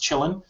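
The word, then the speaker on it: Kylin: runs on ubuntu uh chillin that's the uh the chinese variant it's spelled k-y-l-i-n i think but it's pronounced chillin so that's pretty interesting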